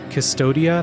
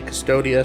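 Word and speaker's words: Cvstodia: game, which is set in the world of Custodia. That's how I'm pronouncing it.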